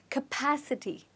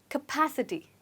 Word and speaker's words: capacity: we pronounce it so this word cap is actually not pronounced as cap here it's pronounced as cup capacity try it again capacity well done okay let's